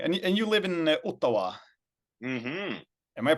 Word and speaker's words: Ottawa: I see okay and and you live in uawa am I pronouncing that correctly pretty close I think that's fine of course it's the arrived from a a native indigenous word here but uh Ottawa yes uh live from Ottawa Canada Canada's greatest